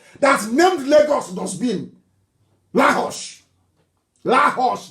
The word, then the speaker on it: Lagos: Lahos, that's the correct pronunciation.